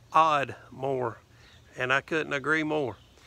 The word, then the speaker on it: Ardmore: a small country town it is called Ardmore over there they pronounce it odd more and I couldn't agree